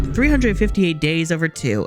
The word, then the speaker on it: 358/2 Days: First up, 358 days over two. I go, it's just the way it's formatted, too, cuz like days is after the two, but you're meant to pronounce the two after days.